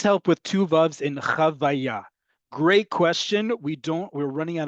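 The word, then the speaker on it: חוויה: We're running out of time here, but chavaya, because the root of it is chet vav hey. And in order to pronounce it, that vav as part of the word and not as a vowel, we add that second vav there to ensure that we're saying chavaya.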